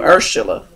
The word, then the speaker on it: Urshela: up which part Oh your first name am I saying it right Oh Sheila I think it's urshela right now no Atkins is Atkins but your first name earth shilla that's right I've heard that name